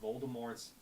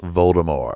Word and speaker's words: Voldemort: It reminds me of like Harry Potter when like J.K. Rowling apparently wanted Voldemort's T to be silent. Voldemort. It's Voldemort.